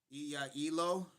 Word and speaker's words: Elo: Read low, not Lou as the toilet. Elo.